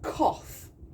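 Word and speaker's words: Qoph: Now, we are actually moved in the same way by the moon from the back of our head, from a place called Koth, which is spelled Q-O-P-H.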